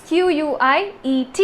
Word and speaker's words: quiet: That is Q-U-I-E-T. It's pronounced as quiet.